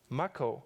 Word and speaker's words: Mach-O: Mach-O is pronounced similarly to the main power source from Final Fantasy VII.